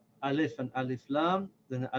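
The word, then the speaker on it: ال: So this Alif with Fatha and this Lam with Sakin, together we'll say Al.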